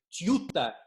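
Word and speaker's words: Tjøtta: Это место называется совершенно непроизносимо Тьюта. Первая буква Т, потом, соответственно, буква как в слове Джокер. Вы можете видеть название внизу, написано под фотографией.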